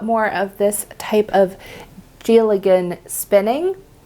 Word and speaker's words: Dealgan: So I'm really excited to try out more of this type of Dealgan spinning. I know it has a D on it, but it's pronounced like a J, so Dealgan.